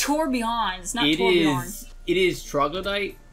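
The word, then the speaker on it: Torbjörn: yeah the actual like his name is pronounced tour beyond not torbjorn even though i have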